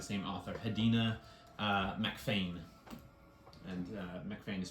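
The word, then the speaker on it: MacPhain: And MacFain is spelled with a PH. Is it Mac or Mick? Mac, M-A-C.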